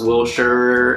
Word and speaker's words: Wilshire: street names here well Shire is a release pronounced Wilshire and it's not rodeo its rodeo that's a